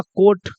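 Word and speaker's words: coat: वैसे ही हो जाएगा कोट। तो ये उच्चारण का इतना सरल तरीका मैं आपको बता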